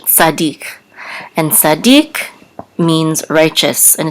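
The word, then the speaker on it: צדיק: and the accent mark so we know that the accent is on the last syllable so Noah ish Sadiq and Sadiq means righteous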